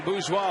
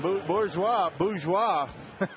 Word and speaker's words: Bourgeois: And Bourgeois is a strikeout victim. The R is silent, isn't it?